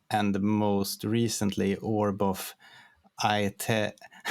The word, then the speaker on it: Aeternum: To be frank, I didn't even know how to pronounce it myself when the name came up, but I think it's Aeternum. I think that's easiest.